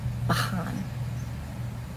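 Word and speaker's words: בחן: So today's Hebrew word is going to be prove, which is pronounced Bahan. Bahan. Right to left, it's spelled Biet He Nun.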